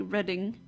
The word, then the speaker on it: Reading: Okay, yeah, I forgot that it was written like that, spelled like that, but it's pronounced like Reading.